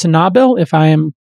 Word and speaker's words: Sanabil: It's pronounced Sanabil, if I am pronouncing it correctly, S-A-N-A-B-I-L, investments.